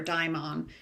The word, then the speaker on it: daemon: But in this universe that Philip Pullman created, everyone has what he calls a daemon. Um again, it's just a different pronunciation of it or daimon, but it's in In